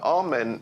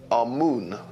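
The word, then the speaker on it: Amun: kites is quite interesting one of the important deities was amen now amen is the pronunciation that the Hebrews give it and some Scholars agree to use that pronunciation amoon is the pronunciation given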